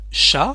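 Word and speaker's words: chat: let's take some example sha for cat so here we don't pronounce the letter T So at the end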